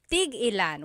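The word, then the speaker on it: tig-ilan: So tigilan when there's a hyphen in it you have to have that glottle stop that means how many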